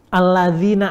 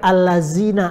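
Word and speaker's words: الَّذِينَ: Alladzina amanu dibaca allazina amanu.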